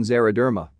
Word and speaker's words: xeroderma: X sounds like Z, as in xeroderma.